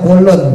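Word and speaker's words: كُلٌّ: Tanwinuhu, yaitu dengan menggunakan tanwin, jadi dibacanya kulun, domah tain ya. Biasanya kan kulun itu nggak pakai tanwin Bapak Ibu. Kalau Bapak Ibu jeli, biasanya tuh kulu, kuli, kula, biasanya gitu.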